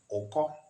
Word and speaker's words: oko: Okay, but when you talk about the other word oko, now listen to the pronunciation. Oko is deep, starting from o. This one is not u but o. Oko. There is this depth of sound.